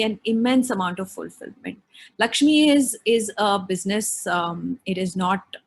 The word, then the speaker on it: LXME: So I set up Lakshmi, which is spelled LXME.